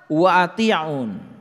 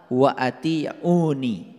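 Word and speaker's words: أطيعون: lihat ayat ini fattaqulaha Wa atiun nah ini sebetulnya dibacanya harusnya fattaqulaha wa atiuni dibacanya harusnya begitu fattaqulaha wa ati'uni bertakwalah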